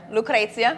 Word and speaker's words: Lucrezia: Yeah, Lucrezia. Lucrezia. You gonna Lucrezia. make me pronounce it last name?